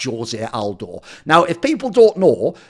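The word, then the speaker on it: José Aldo: if he's then eliminated is going to be Jose Aldo just to stress again for people who don't know because he's Brazilian you pronounce it Jose if he was someone from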